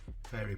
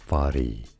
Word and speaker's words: Fari: Right, I just wanted to draw your attention to this absolutely amazing lady, Fairy Black. Fari is how you say it.